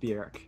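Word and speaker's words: Björk: sell this anyway um technically bjerk i think with an umbrella she is pronounced bjerk yeah uh it's good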